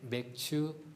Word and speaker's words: 맥추: 믿음으로 하나님 앞에 예배하는 맥추 감사주일입니다. 또 어떤 분은 또 발음을 이상하게 해서 목사님 그날 교회 가면 맥주 줍니까라고 맥추절이라고 맥주절이라고 생각하는 분도 있는데요. 맥주가 아니라 보리 맥자를 써서 맥추 감사절입니다.